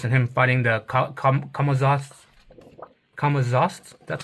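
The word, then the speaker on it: Camazotz: The luchadors and him fighting the Kamaz Kamaz.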